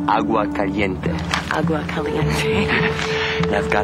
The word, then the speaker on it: Agua Caliente: It's pronounced Agua Caliente.